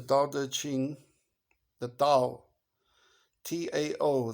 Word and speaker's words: Tao: It's a short book, the Tao Te Ching, the Tao, Tao. They write it, but it's pronounced Tao, Tao.